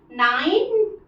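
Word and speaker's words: nine: आई के साथ अगर ई आए तो ई साइलेंट हो जाता है तो देखिए नाइन बस हम बोल रहे हैं नाइन नहीं बोल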